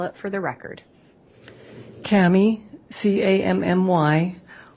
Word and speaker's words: Cammy: honor would you please state your name and spell it for the record Kami c-a-m-m-y w-i-l-l-m-o-r-e where are you currently employed